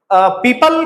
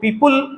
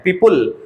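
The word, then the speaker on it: people: का जो प्रोनाउंसिएशन है, बहुत सारे लोग इसको पीपुल उल कह के बोल देते हैं, पीपुल, तो उल नहीं बोलना है, इसका जो करेक्ट प्रोनाउंसिएशन है वो पीपल है, पीपल, अल की तरह से साउंड आएगा।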